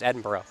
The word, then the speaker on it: Edinburgh: edinburgh oh boy oh my director corrects me and says it's edinburgh and she groans it's like warchester and lycester all over again i know as an american has just moved here the hardest part of all this stuff for me is figuring out how to pronounce these things these city names are strange i don't understand why edinburgh isn't just edinburgh but whatever it's edinboro so there we go